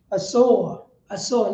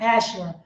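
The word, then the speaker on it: Assur: You got the Hagarenes, Gabar, Ammon, and Amalek, the Philistines, with the inhabitants of Tyre, Asor, not Asher, Asor. Asor.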